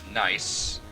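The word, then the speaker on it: gneiss: Uh the name nice. Um G N E I S S is a real type of rock.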